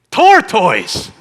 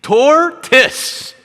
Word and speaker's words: tortoise: mi esposa me dice tortoise What Talking About qué estás diciendo torto eso no se pronuncia así Eso se pronuncia tes tes Imagínese usted el ego